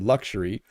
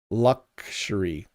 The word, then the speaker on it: luxury: Freddy says, "Bob Robbie, h how do you pronounce the word luxury? Do you use the X like KS or more like GC? Luxury.